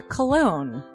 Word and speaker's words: Colon: It is a self-published book by Christopher Cologne. Chris Cologne? Smells good to me. But Look at her. That broke that fucking cold little exterior. He's like, hee. But it is spelled Colon.